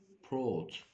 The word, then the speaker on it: brought: اوكي، come, came, drink, drank, sit, sat, have, had, wear, wore, take, talk, take, took, bring, brought. لاحظ ان الجي اتش هنا silent يعني مش بتتنطق.